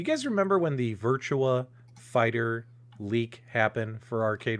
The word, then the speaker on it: Virtua: a hard time because i kept pronouncing virtua wrong i was saying virtual fighter you know what i